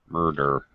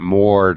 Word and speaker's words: murder: oh his teacher murder murder murder not Mor you're trying to pronounce a u it doesn't sound like a u it sounds like sounds just like er mder it Rhymes okay all right after